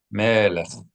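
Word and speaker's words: מלך: All right, make sure that when you read the chaf at the end of a word, you always pronounce it how? Not hard like a K, but more guttural. Melech. Soft.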